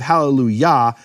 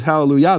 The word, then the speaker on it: Hallelujah: And so the Yah of Hallelujah is different than the Yah in Yah-weh. In fact, in English churches, they pronounce the Yah of Hallelujah correctly. They don't say Hallelujah. They say Hallelujah.